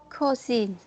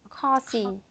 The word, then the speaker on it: cousin: And here Cousin. again, Cousin. okay. Um, Instead of saying call, Call. it's ah. It's ka. Ah. Cousin. Yes, cousin. And just put a little z.